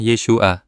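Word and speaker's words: Yeshua: Nama aslinya adalah Yesua diucapkan Yesua. Tiga suku kata Y, bukan Yesus Yesua.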